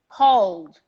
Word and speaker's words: called: vibration at the end we go straight to the d ignore the e call please guys don't say college please don't do that called called called ignore the